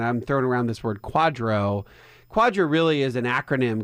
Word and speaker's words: QDRO: you're wondering and I'm thrown around this word Quadro Quadra really is an acronym QDR o pronounced Quadro and it's really it's a it's basically a